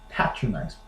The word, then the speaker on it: patronize: another word Petron ni right in Britain they will say patronize Pats patronize seriously I don't know